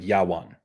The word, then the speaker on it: Javan: And in Hebrew, Javan would be pronounced like Yawan, which is like almost the exact same as the older Greek form of Yawon.